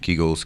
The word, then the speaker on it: Kegel: feelings on uh kegeling kegels cake kegels how do you say it kegel rhymes with bagel it depends where you are and put some swiss